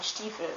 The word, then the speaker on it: Stiefel: Yeah, I thought I told you, but an I that is followed by an E is always pronounced as a long E, as a long I, E. For example, Biene and Stiefel, which means bee and boot.